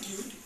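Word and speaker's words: Qt: q so if you search for this it's pronounce as cute and spelled as C it's very easy you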